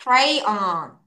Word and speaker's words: crayon: 발음 끝까지 해야 크레용, 돼. crayon.